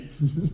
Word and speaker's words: Bussey: Say it like Gary. Gary Busey. Busey.